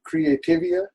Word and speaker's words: Creativia: society uh now you use a a publisher creativia is that how you pronounce it yes how do you uh like